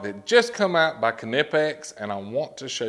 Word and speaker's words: Knipex: that just released from canipex that's right i said canipex there's a lot of